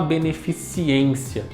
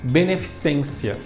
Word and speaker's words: beneficência: destinado a beneficência e não há beneficiência talvez as pessoas confundam porque como a palavra benefício tem esse e ali no final por associação falam também beneficiência mas a pronúncia padrão é beneficência em quarto lugar eu